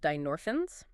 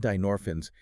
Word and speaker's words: dynorphins: They are a family of peptides called dinorphins, right? That is spelled d y n o r p h i ns.